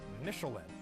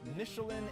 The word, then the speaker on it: Michelin: mean tire nishler is Michelin though I will be switching between the French and American pronunciations for the purposes of rhetoric and humor Michelin and Michelin are the